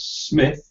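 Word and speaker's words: Smyth: yeah sorry sorry um it's spelled s SM YT H I thought it it Smith could be smile but as he's pointed out we pronounce it Smith as there is no e on the end so school boy error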